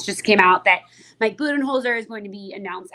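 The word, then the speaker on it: Budenholzer: if I'm going to say this name last name wrong it's Mike buen holer right right correct buen holer is hired as the son's new coach um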